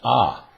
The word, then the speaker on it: a: Now, today, we're going to talk about the use of the letter A, which, when used by itself in a sentence, is pronounced ah.